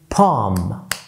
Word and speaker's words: palm: كمان لما بيبقى عندنا ALM دايما ال L بتبقى silent زي calm، مفيش حاجة اسمها calm calm اهدى calm down. كمان palm palm.